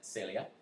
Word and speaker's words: Celia: Number one, I said that this woman, Celia, in Spanish we pronounce that Celia, has binoculars.